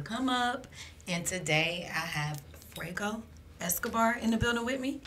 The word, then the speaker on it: Fuego Escobar: And today I have Fuego Escobar in the building with me, and we're gonna see what he got going on with his Comeup.